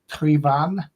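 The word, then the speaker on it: Traigh Bhan: Apparently, it's something like Trivan. How do you pronounce it? It's Ardbeg, Traigh. It's almost like tray, but I think it's tree. Might be try. And BHAN is definitely van. It's definitely van, as in so that's definitely van.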